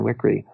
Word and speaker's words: Wickre: Her last name is spelled Wickre, Karen Wickery.